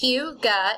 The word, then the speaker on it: hygge: It's pronounced hygge. It's a Scandinavian word and a defining characteristic of Danish culture.